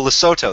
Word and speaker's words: Lesotho: And oh, Lesotho, that's how you pronounce it.